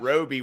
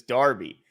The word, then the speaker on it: Darby: it's just like uh who was the corner we kept saying his damn name wrong last year Roby or oh or Darby or Derby we kept saying Roby when it was Darby yeah um all right